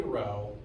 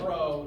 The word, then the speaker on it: rho: It is technically rho, spelled like this, like rhododendron. And so if I call it rho, that's why.